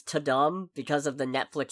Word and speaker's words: Tudum: Yeah, it's Tudum. Their event is called Tudum, so I assume it's pronounced like the sound and that plays when you open Netflix, the Tudum.